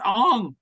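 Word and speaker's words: Aang: it's his name is Ong and Soka.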